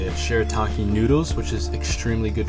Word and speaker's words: shirataki: Under is shirataki, that's how you say it, shirataki noodles, which is extremely good for the gut.